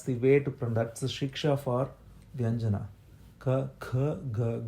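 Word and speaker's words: ख: So the way to do it is this, okay? When you say ka, if you put your forefinger near your mouth, there will be no air coming out. You will not feel it. Ka. When you say kha, you'll feel air. Kha.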